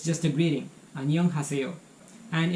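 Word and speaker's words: 안녕하세요: Annyeonghaseyo.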